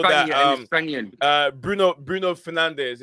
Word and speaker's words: Bruno Fernandes: that he's always pronounced his name by he's pronounced his name Bruno Fernandes.